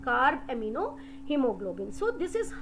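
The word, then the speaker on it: carbaminohemoglobin: combines with hemoglobin form card amino hemoglobin it's pronunciation card amino hemoglobin so this is how it goes to the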